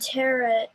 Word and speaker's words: tarot: Today we're doing the Good Tarot. Tarot. Tarot. That's okay. It does look like tarot. But it doesn't rhyme with parrot.